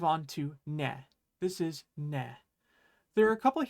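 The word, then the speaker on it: ね: This is ne.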